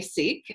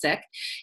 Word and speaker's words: Sikh: i k H it some people will say seek but if you're in South asians pronounced sick and I was Raised in that religion and